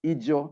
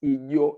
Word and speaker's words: Ijo: That is not how it is pronounced, but I think many people find it hard to pronounce it in the way it should be. So I have also been corrupted. I pronounce it Ijo as it is written. But it is supposed to be pronounced Ijo. It's a soft J.